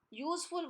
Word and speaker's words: useful: Useful word is beginning with U, which is a vowel, but the sound here is Y.